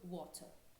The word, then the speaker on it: water: Primeiro, no British English, inglês britânico, a gente não pronuncia o R no final de palavras ou após vogais. Então, por exemplo, você vai ouvir o britânico falando water. Water. O americano, você escuta ele falando esse R, né?